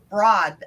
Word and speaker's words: brood: broad or brood okay heard Marie pronounce it as in gold or bro with a long o and tonight Liz has pronounced it as broad as in Broadway since Marie's pronunciation I